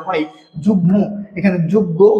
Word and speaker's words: যুগ্ম: ছিল না কিন্তু এখানে উচ্চারণ বাগ্মি ম এর উচ্চারণ হয় যুগ্ম এখানে যুগ্ম উচ্চারণ হওয়া উচিত ছিল কিন্তু এখানে কি হয়ে গেছে যুগ্ম ম এর উচ্চারণ সাবা মানে প্রকৃত আছে উর